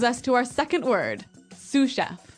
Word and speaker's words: sous chef: to our second word sous chef sous chef sous chef sous chef s-o-u-s so the s is silent because it's like a french word yeah something like that